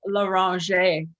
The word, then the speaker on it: Loranger: so people could not oh it's laurentia it's french right yes i practice it